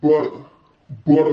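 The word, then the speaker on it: Buttah: All right, next up is Butter Baby. You gotta say it like that, I feel like. So this is the Butter Baby. It's really butter though, like B-U-T-T-A-H.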